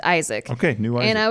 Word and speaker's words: Aizik: It's spelled Aizik. Oh, that's not classic at all. But it's a new Isaac. He says pronounced Isaac.